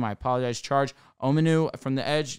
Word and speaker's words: Omenihu: They go and they add, if I mispronounce his name, I apologize, Charge Omenihu from the edge. Omenihu, thank you.